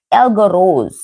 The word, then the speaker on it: egregore: Thought forms can also be created, so-called tulpas and egregores, is I must pronouncing this right.